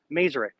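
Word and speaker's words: Maersk: um and uh the Merk line right that's how you pronounce it in the US but here if you talk to somebody about it they'll say oh merer and you mean MK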